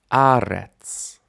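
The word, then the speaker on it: אֶרֶץ: Mi lifnei Adon huli aretz. Mi lifnei Eloah Yaakov. You might have noticed aretz has initial stress. Before the Lord, Chuli aretz, the earth writhes. Chuli is writhes, and aretz is earth or land.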